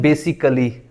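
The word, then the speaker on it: basically: इसको लोग पढ़ते हैं बेसिकली बेसिकली नहीं होता यह बेसिकली है इस ए को खत्म कर दे इस ए को खत्म करेंगे तो क्या बनेगा बेसिकली बेसिकली उसके बाद ये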